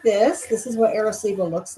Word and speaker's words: Arecibo: My shirt is from Arecibo.